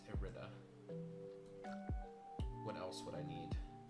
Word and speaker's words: Irida: I keep putting I'm putting extra syllables. It's just I keep doing Idia. It's Irida.